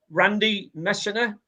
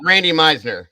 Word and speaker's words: Randy Meisner: Is it Randy Messner? Yes, Randy Messner, the bass player. That's right. Yes. That's right. You pronounce it right for me. There you go. Randy Meisner.